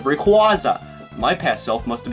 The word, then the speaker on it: Rayquaza: And yes, I now pronounce it Rayquaza instead of Rayquaza.